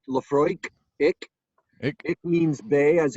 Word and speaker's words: Laphroaig: big deal Jeff you're absolutely correct Laphroaig itself Laphroaig means the hollow by the bay that Oh a IG ending that it pronounced Laphroaig it it means Bay as in Viking Vick